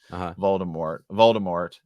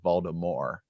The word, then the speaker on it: Voldemort: So he says Voldemort. Or as they say in the audiobook and the book, Voldemort, MOR, like so I think either's correct.